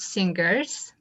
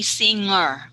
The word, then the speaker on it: singer: singer you are not singers okay by the way singer okay so okay no g sound okay don't say singer but saying singer singer singer okay that's better again this one you